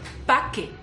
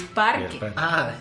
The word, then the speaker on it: parque: Ya ni me acuerdo cómo se dice, pero es súper raro porque dices paque. Vamos al paque. Y es parque.